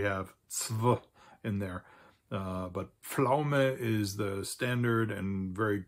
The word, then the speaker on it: Pflaume: Die Pflaume. There's also a southern German and Austrian term for that, Zwetschge, which is not much easier to pronounce because we have zw in there. But Pflaume is the standard and very commonly used term